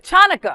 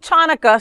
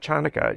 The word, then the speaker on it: Hanukkah: Like for me, like I think chanukah so I can write it correctly out of respect. Of course. It's not chanaka.